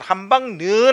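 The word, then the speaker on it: 함박눈: 이럴 때는 한방눈 안 그러죠. 뭐라고? 한방눈이 내린다. 이렇게 짧게 발음이 되더라는 거예요.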